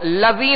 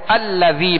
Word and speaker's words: الذی: یہ سکون بشکل تشدید ہے، تو اب اس کو لذی نہیں پڑھیں گے، لذی نہیں پڑھیں گے، ہجے بھی کریں گے تب بھی حمزہ کے ساتھ ملائیں گے، اور رواں میں پڑھیں گے تب بھی حمزہ کے ساتھ ملا کر پڑھیں گے، تو الذی پڑھیں گے، اگرچہ حمزہ پر کوئی